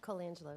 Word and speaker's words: Colangelo: Colangelo, am I pronouncing it correctly? Colangelo, yes.